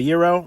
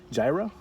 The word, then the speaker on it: gyro: fake gyro ever so the best way to learn how to say this item is just think about you don't want to date a zero what a date a hero and that's how that's